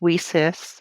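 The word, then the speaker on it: WiCyS: It's pronounced WESIS.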